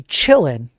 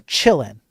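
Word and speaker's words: Qilin: And by the way, the Chillin, I know it says Q L I N here, but it's it's a Chinese ransomware group.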